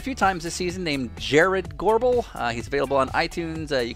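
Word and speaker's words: Jarrod Gorbel: We're going to go back to a guy we've played a few times this season named Jared Gorbel. He's available on iTunes. You can spell it J-A-R-R-O-D.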